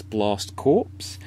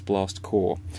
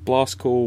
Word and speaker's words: Blast Corps: might read it as blast corpse and blast corpse is not the right pronunciation its blast core and blast core was a great idea